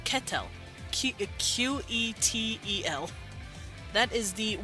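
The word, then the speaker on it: qetel: q e t l they just click it and like I said they don't really pronounce vowels the vowels here are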